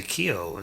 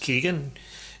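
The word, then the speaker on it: Keoghan: I want to say Keogh. Someone said his name is pronounced Keegan.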